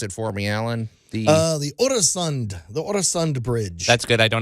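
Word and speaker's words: Øresund: In our Great Moments in Building History, pronounce it for me, Allan. The Oresund Bridge.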